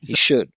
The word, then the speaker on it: should: Did you see Did you say he he pronounced it without the L as well. And if you can, you should, right? He should.